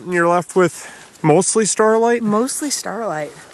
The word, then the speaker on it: staurolite: you're left with mostly Staurolite? Mostly Staurolite. Or I keep saying Staurolite because that's how it's spelled. Staurolite. Or that's at least the way we say it here.